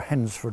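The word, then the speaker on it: Hednesford: was sent um to hennesford or hensford i believe it's pronounced locally but it's near rougely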